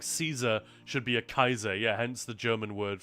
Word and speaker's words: Caesar: And in Latin obviously it's c a e not c ea but yeah in Latin it would have been pronounced kaiser kyum for instance has